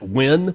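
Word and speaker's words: Nguyen: That's why I'm pronounced in the win. Duh's last name is win.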